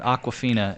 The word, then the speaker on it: Awkwafina: Tony Leung or Leung is who that is, and then some chick named Aquafina, and it's spelled AWKWAFINA.